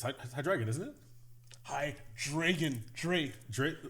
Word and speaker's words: Hydreigon: Hydreigon? What is it? Oh my God, my brain. It's Hydreigon, isn't it?